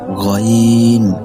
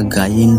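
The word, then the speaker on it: غين: ৩ number মাখরাজ হলকের শেষ হইতে গইন খ, উচ্চারণটা গাইন হবে না, গইন হবে।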